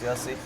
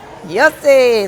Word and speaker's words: Yossi: I think my neighbors made it up because they couldn't pronounce Yossi. Ah. Your family, so you could say it, right? Yossi, that's right.